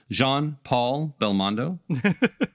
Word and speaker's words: Jean-Paul Belmondo: Robinson, Philip Roth, Renee Taylor, Jean-Paul Belmondo, Jean-Paul, let me put some respect on this man's name and pronounce it correctly, Jean-Paul Belmondo.